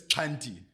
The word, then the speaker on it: Xhanti: correct pronunciation sure it's Cy um yeah Cy so I always say to people it's like or at least for me it's a click on the left side of your mouth Cy yeah I'm going to